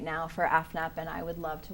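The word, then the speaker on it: EFNEP: Okay, so you said FNEP, and and when you came in, obviously I just stared at it because I wasn't sure how to say it. So it's F-NEP, and that stands for?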